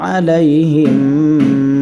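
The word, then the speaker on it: عليهم: আলাইহিম আলাইহিম ঠিক আছে আলাইহিম মিম সাকিনের পরে মিম সাকিনের ঈদগমে বাগুন্না ঠিক আছে না মিম সাকিনের পরে মিম মানে মিম সাকিনের ঈদগমে বাগুন্না এই বাগুন্নার হরফে তাজদিদ দিয়ে গুন্না করে আমাদের পড়তে হবে আমরা পড়ছি কেমন ইন্নাহা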